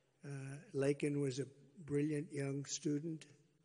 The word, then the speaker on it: Laken: 22y old nursing student Laken Riley you know Laken very well now and after months of prodding him Biden couldn't pronounce her name he said uh he said Lincoln Lincoln Riley and Lincoln rile is